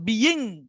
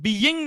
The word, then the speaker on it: being: আগেরটা হচ্ছিল বিং, BEING, মানে মূল উচ্চারণটা হওয়ার কথা বিইং, কিন্তু বিইং না হবে, এটা উচ্চারণটা হবে বিং, বিং, বিং।